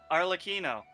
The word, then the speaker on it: Arlecchino: Arlecchino.